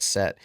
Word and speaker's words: Set: They had a god named Set, and it's spelled Seth, but it's pronounced Set, I believe.